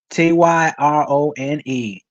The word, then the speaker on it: Tyrone: it says so will and car okay so Tyrone I think you better call T hey how you doing good how you doing baby how you pronounce your name t y r o n e Tyrone okay I said it right okay I